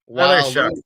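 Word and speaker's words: Tyler Shough: They just took a Tyler Shuck. It's pronounced Shuck. Shuck? Yeah. Shuck. Don't ask me how you get your case sound out of that.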